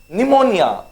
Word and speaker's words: pneumonia: okay next it is pneumonia okay now here in pneumonia p is silent okay and for the